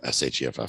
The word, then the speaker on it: Sheff: Tyler Sheff, S-H-E-F-F, Sheff. Tyler Sheff, and it's an S-H, not a C, everybody. So if you're looking him up, it is Tyler Sheff, S-H-E-F-F, and he is absolutely the guy of the cash flow guys.